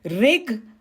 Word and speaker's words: Rig: I am also the Rik. Did I say it right? Rik? Actually, it is Rig.